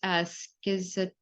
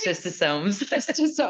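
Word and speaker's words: Schistosoma: parasites, such as I'm going to try to pronounce this, schizostoma. I got you covered. Okay. Schistosomes.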